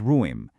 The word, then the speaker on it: ruim: Next up is ruim, ending in a nasal M.